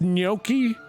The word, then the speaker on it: gnocchi: It's gnocchi. It's Gnocchi. It's Okay, but only gnocchi. because he pronounced it correctly.